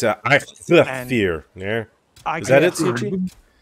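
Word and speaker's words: Eikthyr: It's a Ikthir.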